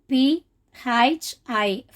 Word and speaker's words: phi: This means P-H-I, phi. So how to pronounce means phi.